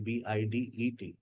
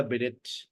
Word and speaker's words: bidet: अब आप यहाँ देखें, आपको टा साउंड नजर आ रही है इसमें, आगे देखें, आपको इसमें कहीं टा साउंड नजर आ रही है। मैंने भी स्पेलिंग शायद यही लिखी थी, BIDET, गायब हो गई। BIDET नोट कीजिएगा अपने पास ये स्पेलिंग, और देखिए इसको पढ़ेगा क्या। B-day, B-day, पीडे। B-day, हमने एक नया वर्ड देखा, उसमें हमने इसको पढ़ लिया बिडिट। Bidet. B-day, Bidet.